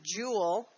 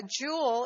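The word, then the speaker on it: joule: to determine energy and this is spelled a jou le for the scientist who discovered this this is not jewel like Emery emeralds and rubies it's not je wel ok it is the unit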